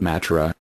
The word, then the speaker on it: Mathura: Krishna was said to have been born at Mathura, pronounced Mathura, on the river Jumna,